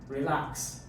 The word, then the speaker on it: relax: So for verbs and preposition, stress usually fall on the second syllable. Relax.